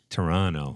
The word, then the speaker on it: Toronto: that it's legit because you don't pronounce the second T if you're on the inside ah Toronto Toronto yeah t dot um